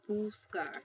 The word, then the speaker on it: buscar: the word buscar, okay, it has a hard C sound. It's pronounced buscar. I'll put that in there. Buscar. That's how you pronounce it.